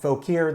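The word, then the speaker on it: Fauquier: down info PA or if you're from the local area they pronounce it folk here though the word is French fa u qu ie are folk yeah but it's down a folk a County I know their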